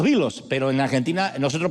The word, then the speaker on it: Beatles: llegaron a los vos pero nosotros en Argentina decimos Beatles Ed pero son los bilos pero en Argentina nosotros